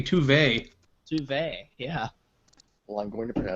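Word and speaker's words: zwei: It's pronounced 2Y. If you listen to the previews, Ilia's actress pronounces it. That's because they don't know how to say German things. It should be Tuve.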